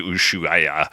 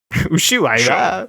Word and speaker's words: Ushuaia: Yeah, and then that is the same outfit she appears on stage at the Ushuaia. Mm-hmm. Ushuaia. Ushuaia. Ushuaia. Yeah. That's three consecutive separately pronounced vowels.